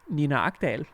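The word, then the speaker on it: Nina Agdal: Her Danish name is pronounced Nina Akdal.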